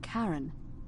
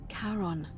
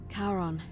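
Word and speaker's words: Charon: It's just as you described it, only your pronunciation is a little off. The name you heard wasn't Karen. It was C H A R O N. As in Karon, the fairerryyman of the dead. Karon, who in exchange for the right coin, helps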